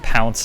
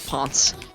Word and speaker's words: Ponce: I'm only familiar with Pounce de Leon. Yeah, no, it is Ponce.